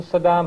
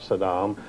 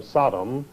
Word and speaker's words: Saddam: a business partner of Saddam and he claimed he didn't know him so he deliberately when he was on camera he always mispronounced his name he always called him Sodom as though he were